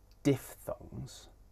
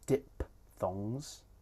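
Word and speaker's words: diphthong: These are diff thongs and tripff thongs. You might also hear these pronounced as dip thongs and trip thongs. And both ways of pronouncing it are fine.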